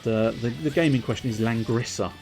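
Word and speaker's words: Langrisser: the gaming question is langrissa one and two i don't know if that's the correct pronunciation but l-a-n-g-r-i-s-e-r one and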